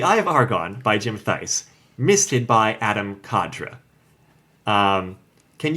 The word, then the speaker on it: Theis: Because I think it's supposed to sound like thigh. Yeah, they make that joke at one point. Yeah. Yeah. So, The Eye of Argon by Jim Theis, misted by Adam Cadre.